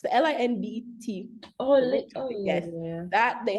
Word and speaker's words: Lindt: You always have Lind, L-I, I don't know how you pronounce it. Lind chocolate. It's the Lindt.